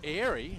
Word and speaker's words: Ari: Matty O'Hea sitting on the sidelines with a broken finger, but Ari Stewart, or Airy, as I'm told, should be pronounced.